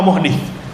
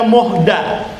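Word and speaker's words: مُحْدَث: Bisa juga dalam riwayat dibaca muhda. Bacanya muhda bukan muhdi. Kalau muhdis berarti orang yang membuatnya, membuat perkara baru. Tapi kalau muhdas ya objeknya berarti yang dibuat.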